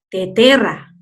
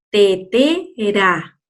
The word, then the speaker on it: tetera: Entonces, cuando yo la pronuncie, la puedo pronunciar despacito. Tetera, pera, moreno. No voy a decir teterra, perra, moreno. ¿Te fijas?